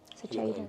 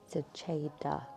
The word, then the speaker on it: Seceda: Seceda. Chi and it's Che. Cheddar. It is spelled with an E though, so we'll let you off Che. today. Seceda.